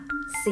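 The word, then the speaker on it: ศรี: ศาลา ควบ กับ ร เรือ อ่าน ออก เสียง สส ธรรม นี้ มี หลาย คำ นะ คะ คุณ ครู จะ ยก ตัว อย่าง ให้ นัก เรียน ดู จะ ทำ เช่น คำ ว่า สี อ่าน ว่า สี โศก เศร้า อ่าน ว่า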